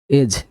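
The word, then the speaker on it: edge: ইগল মানে এজ, ইডিজি এজ, এখানে সব ডি হচ্ছে সাইলেন্ট লেটার, ঠিক আছে।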